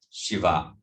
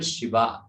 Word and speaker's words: Shiva: When we say in Sanskrit, when the second syllable is elongated, it becomes feminine. Shiva, Shiva.